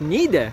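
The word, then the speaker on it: Niğde: Конечно, она произносится у нас как Ниде, но если читать с русским акцентом, это звучит нигде.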